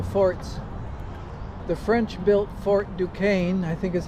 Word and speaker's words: Duquesne: The French built Fort Duquesne, I think is how you pronounce that. D u q u e s n e back in the 1750s to defend against the